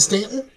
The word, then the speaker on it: Staunton: is spelled Staunton um but we pronounce it Stanton hmm what's the place